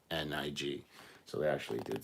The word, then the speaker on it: Koenig: They spelled it Koenig, and it's actually Koenig, so it's Coenig. So they actually did spell it wrong there, which I'm sure they're going to point out here.